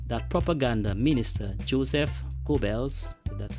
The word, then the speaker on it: Goebbels: It is said that propaganda minister Joseph Goebbels, that's how it's pronounced, insisted that a 440 hertz tuning in Germany should be believed.